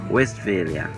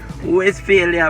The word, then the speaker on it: Westphalia: where west area west this is incorrect pronunciation though yeah but the right pronunciation is west failure westphalia so i guess some persons probably just came by with the west west failure business and then we